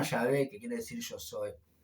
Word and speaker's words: Yahvé: por otros nombres, pero incluso por diferentes pronunciaciones como Jehová, pero el Dios se llama Yahvé, que quiere decir yo soy.